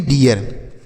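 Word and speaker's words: dear: इसे डीर नहीं, डियर।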